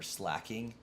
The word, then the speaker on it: Slaking: Pokemon in that generation do I like to say slaking or slacking I know it's supposed to be slacking because it's slacking off but I I cannot call it a slacking and I can't call it a slacko either like I know that's how it's pronounced and I know that's